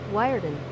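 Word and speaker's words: Wiarton: Wireden.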